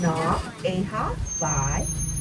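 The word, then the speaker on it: Nā Wai ʻEhā: In Hawaiian, it's pronounced Na, Eha, Vai.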